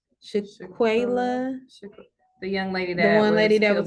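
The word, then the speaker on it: Shanquella: Shaquila, Shaquila.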